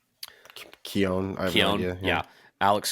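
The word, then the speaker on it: Keown: Alex ke o WN is that Keon con spell it again k e o w n Keon I have yeah Alex Keon but it's a it's a really cool piece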